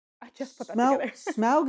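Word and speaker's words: Smaug: I just put that smug is more fun to say yeah and it's more of a name it feels more separate from the thing yeah so I'll try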